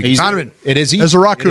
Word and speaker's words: Ezeiruaku: Ezrau. It's easy to say. Donovan Ezra. Ezrau. That is how you say his last name because get used to it.